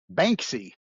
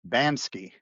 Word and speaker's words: Banksy: Banksy, What did I say? Bansky.